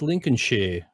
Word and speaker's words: Lincolnshire: should I say yeah but they they don't pronounce it like that they said it's lincolnshire they don't let say not